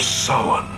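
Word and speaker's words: Samhain: traditions of halloween or as he correctly pronounces it the festival of summon good job cochrane apparently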